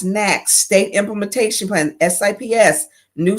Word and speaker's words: NAAQS: The National Ambient Air Quality Standards, pronounced NAAQS, State Implementation Plan, SIPS, New Source Performance, and National Emission Standards for Hazardous Pollutions.